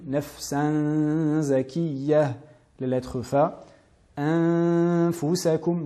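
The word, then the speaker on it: أَنفُسَكُمْ: La lettre fa, anfusakum. Donc là, nous apprêtons à prononcer les lettres fa. C'est pour cela que nous plaçons les incisives supérieures sur l'intérieur de la lèvre inférieure. De cette manière, anfusakum.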